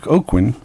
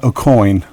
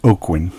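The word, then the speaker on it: Aucoin: for several years Mike Baron's Badger now Derek oakin it's not aoin there's a manager of the band Kiss called Bill a coin as everybody calls him but it's actually pronounced oakin but I think Bill aoin got tired of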